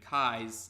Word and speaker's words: Cae: name which is Kai but in the Funimation dub it's spelled CAE even though it still sounds the same as ka I yeah it sounds the same as the K AI spelling but actually in response